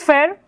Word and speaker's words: Fer: So, my name is Fair. I know the last R is hard to pronounce in English, but think like this. Remove the N and you're fine.